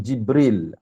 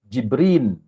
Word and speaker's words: Jibril: sebutan Jibril Alaihissalam kemudian ada juga di kalangan kaum Bani asad yang membacanya bukannya lam Jibril tapi dengan Nun jibrin dia menyebutnya dengan Jibril